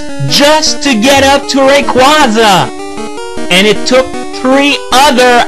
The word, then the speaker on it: Rayquaza: yeah wingal also played a major part in Rayquaza's capture well apparently the proper way to pronounce it is Rayquaza but I've pronounced it